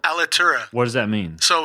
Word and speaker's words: Alitura: How do you pronounce it? Alitura? Alitura.